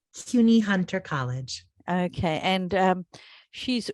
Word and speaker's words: CUNY: so it's CUNY Hunter College.